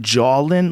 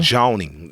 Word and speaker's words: joning: Are you saying jawlin? Like no, J-A-W? like joning. Joan. To like Joan. Yeah, joning. Joning, yeah, like Joan the lady?